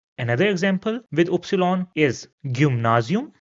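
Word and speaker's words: Gymnasium: Another example with obsilon is gum nazium. So again if I replace the obsilon with the y and u then it will be easier for you to pronounce as gum nazium.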